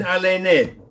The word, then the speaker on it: Alene: firstly i think everybody probably pronounces your name wrongly right yes okay last name even arlene right it's i know that's right everybody yeah i know because i understand the hebrew so it's aiden allen yes everybody keeps saying then